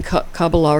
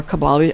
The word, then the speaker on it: Kabbalah: studying magic and studying Kabbalah or Kabbalah. I used to call it Kabbalah till I heard it pronounced properly as Kabbalah.